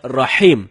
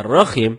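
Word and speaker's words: رحيم: Rohim artinya Maha merdu bacaan yang benar Nyai salah dengan huruf ha ha dalam tenggorokan jadinya Rohim bukan roh Hai kalau temen-temen bacanya rokim itu dapat merubah makna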